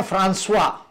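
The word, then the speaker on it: François: तब उन्होंने उच्चारण बताया, जिनका जिनका स्पेलिंग COISE फ्रैंकोइज है, FRANCOISE, उस व्यक्ति का उच्चारण है फ्रांसवा फ्रांसवा, और GAUTIER उसको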